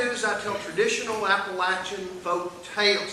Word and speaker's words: Appalachian: call it Apple music south of the Mason-Dixon Line it's pronounced Appalachian and you're from Southfield yeah somebody's gonna throw an Apple Action uh Appalachian so we are he